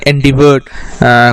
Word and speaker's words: endeavor: তো সেখানে endeavored কথাটা রয়েছে। endeavor আসল প্রোনাউন্সিয়েশনটা হচ্ছে endeavor। তো এই endeavor করছেন উনি কোথায়, যে কিভাবে উনি রীতিমতো অ্যাচিভ করবার জন্য প্রচণ্ড খাটাখাটনি করেছিলেন।